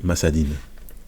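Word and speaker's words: مسد: Moi je prononce à chaque fois masade parce qu'on s'arrête. Donc, mais sinon, il s'écrit masadin.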